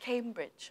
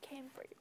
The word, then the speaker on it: Cambridge: book to learn cambrid no no it's cambrid it's Cambridge not Cambridge yes yes okay teacher got it copy it P no C don't forget the ending sound Cambridge no it's Cambridge good okay now this